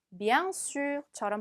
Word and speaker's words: bien sûr: bien sûr처럼 발음하시면 되겠죠.